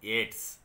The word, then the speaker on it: Yeats: You have to pronounce that Yeats as Yeats.